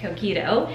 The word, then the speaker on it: Coquito: We are about to finally make Coquito. That's how you say it, Coquito.